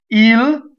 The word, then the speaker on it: il: consonant let's go on île straightforward enough IL I is always e guardo so the O